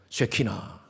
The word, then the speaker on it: 쉐키나: 한번 따라하세요. 쉐키나. 나이 발음 잘못하면 욕이 돼요.